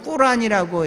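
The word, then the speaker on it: Quran: 계속해서 하고 이 사람들의 우리가 얘기한 성경을 우리는 영어로 하면 코란인데 원래 발음은 꾸란이라고 얘기를 합니다.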